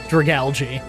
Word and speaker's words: Dragalge: I I just realized recently that this Pokémon is made of algae and so this is definitely pronounced Dragalge.